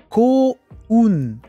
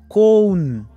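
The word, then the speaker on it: 幸運: Ko-un. C'est un peu nasal, hein. La prononciation, je l'ai bien, Itokatsu, qu'est-ce que t'en penses? Ko-un.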